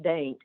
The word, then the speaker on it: Dante: she was in uh Dain Virginia um not it's spelled Dante but pronounced Dain and um was collecting